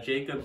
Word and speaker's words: Jakeb: i think it's just jacob ginsberg which is spelled j-a-k-e-b g-i-n-s-d-e-r-g so it's basically jake with a b at the end a lot of people